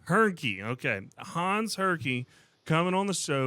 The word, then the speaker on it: Hernke: Hernke. Hernke.